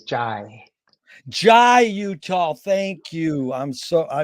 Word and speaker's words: Jai: I just wanted to clarify the pronunciation of my name is Jai.